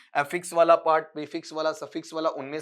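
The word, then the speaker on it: prefix: Choose the प्रीफिक्स, इसका उच्चारण प्रेफिक्स नहीं पढ़ेंगे, प्रीफिक्स पढ़ेंगे।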